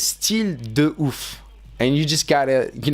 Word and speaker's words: Style de ouf: So the way you pronounce this, guys, is Style de ouf.